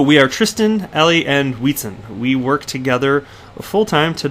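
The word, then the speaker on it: Wietse: And by the way, the only reason I know how to properly pronounce Wheatson is because I heard him say it himself in an interview a couple months back. So I'm confident I'm saying Wheatson correct.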